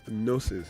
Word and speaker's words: Gnosis: Gnosis. Gnosis. What is the G there now? Yeah, the G is silent.